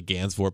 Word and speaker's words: Gansevoort: route 9 and Gansevoort not really great pronouncing Gainsbourg I go to Saratoga Springs more than I go to Gansevoort but that's in Wilton as well also Wilton but it's it's really Ganz for Pacific for everyone s theatres pizzas we're